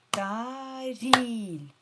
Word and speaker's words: таріль: Таріль. Подивіться, наголос падає на другий склад. Тобто вимовляємо і сильніше.